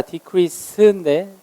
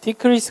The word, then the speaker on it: decrease: 발음은 한 가지인데 강세가 달라요. decrease입니다. decrease인데 decrease라고 발음하지 않아요. 근데 이게 만약에 동사이면 decrease 강세가 뒤에 있고요. 명사면 강세가 앞에 있어요.